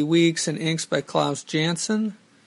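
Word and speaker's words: Janson: and inks by Claus Janssen though recently I heard his name is actually pronounced Johnson I'm not sure about that anyway uh I read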